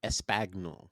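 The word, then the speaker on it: espagnole: Um, Paul did a quail put, but his is it pronounced espanol? It's It's pronounced espagnol.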